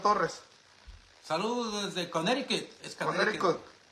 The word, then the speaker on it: Connecticut: Es Connecticut. Connecticut.